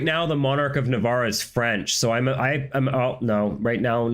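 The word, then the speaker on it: Navarre: So, it's actually a um moot point, but I'm pretty sure that the French monarch of Navar at the start of this campaign would pronounce it Navar.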